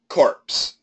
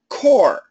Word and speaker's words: corps: here CPS is pronounced core the p and the S are silent sorry it's just c